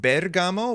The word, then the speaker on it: Bergamo: it can be stickler it's pronounced Bergamo with an emphasis on the first part of the word thank you I appreciate